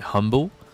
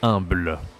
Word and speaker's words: humble: En anglais c'est humble, en français c'est humble, d'accord?